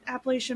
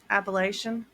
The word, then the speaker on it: Appalachian: It's not that far from the freaking Appalachian Mountains. So of course it's freaking haunted. I'm sorry. How did you pronounce the mountains? Appalachian. Appalachian.